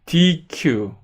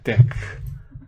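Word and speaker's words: deque: 예, 그 전에 예, DQ. 근데 DQ라고 읽지 않고요. deck이라고 읽습니다. deck. 예, deck라고 읽어요. 이거 보기에는 DQ 같죠?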